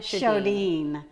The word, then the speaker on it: Sjodin: right or not not not tell us your name Dean Camilla show Dean I never say her